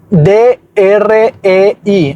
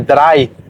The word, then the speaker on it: drei: D-R-E-I, así se escribe, drei, pero se pronuncia como si fuera D-R-A-I.